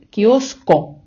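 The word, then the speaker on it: kiosco: складі з літерою с Але ж ми щойно вивчили що с перед а о у читається як к тобто замість с ми читаємо тут кіоско правильно друзі Я зроблю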